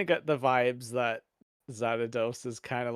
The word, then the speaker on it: Xanatos: Did I say it right? Xanatos. Xanatos, yeah. Yes. Not Xanadu. Xanadu.